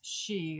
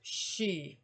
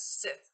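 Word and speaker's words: Sidhe: um rather fearsome but the word is pronounced she though I kind of like pronouncing it as Sith it's not correct but I like it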